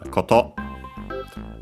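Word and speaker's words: こと: After that we have the noun koto, thing as in matter, accent on the last syllable.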